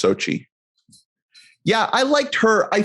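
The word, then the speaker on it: Xochitl: I think the way you pronounce it is Sochi. Yeah. Sochi Gomez. Okay. Yeah. It's like a weird spelling, but it's just Sochi.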